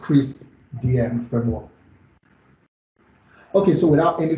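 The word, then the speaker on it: CRISP-DM: yeah so i have this as decreased dm's pronounced crease dm framework okay so without any further ado i'll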